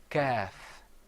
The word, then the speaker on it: ك: كاف Another difference is that the qaf is pronounced full-mouthed. You kind of purse your lips a little bit. You say qaf. Whereas the kaf, you open your mouth up.